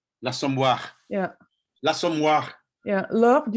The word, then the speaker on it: L'Assommoir: L apostrophe, so L'Assommoir. L'Assommoir.